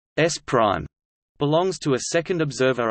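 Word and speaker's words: S′: frame/s belongs to a first observer and frame/s pronounced s prime belongs to a second observer oh the X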